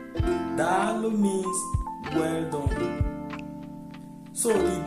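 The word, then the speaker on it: Daalụ: So the last but not the least is Dalo. Dalo means well done. So the Dalo is being written the way it's being pronounced, D-A-A-L-U. Dalo.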